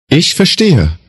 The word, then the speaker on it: ich: میشود میشود میشود اش این کلمه دارای سامتی اس که در فارسی معادل آن را نداریم تلفظ آن بین ش و ک در فارسی فارسی فارسی است است است اش سعی کنید به